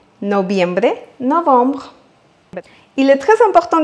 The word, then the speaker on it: noviembre: Et on arrive maintenant au mois de noviembre. Noviembre, novembre. Il est très important de savoir qu'en espagnol, le V se prononce comme le B en français.